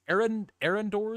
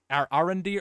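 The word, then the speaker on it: Arondir: I think my biggest gripe was Arendor. Is that how you pronounce it, Brett? Arendir.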